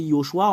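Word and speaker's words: יהושע: Selon les Juifs, le fait de le prononcer, c'est Yehoshua.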